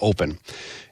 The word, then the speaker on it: OPN: from mocon is called open m and it's spelled OPN but we we pronounce it uh open and it is the